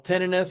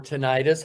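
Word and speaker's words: tinnitus: And over 50 million more than that actually have what we call tenis or tonitis, however you want to pronounce the word, which we're going to go in depth with uh in a little bit here.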